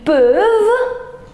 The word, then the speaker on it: peuvent: Ils peuvent. Ils peuvent. Peuvent. We don't pronounce ENT.